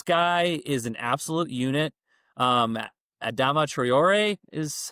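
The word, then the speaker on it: Adama Traoré: Adama Traore is how we pronounce it.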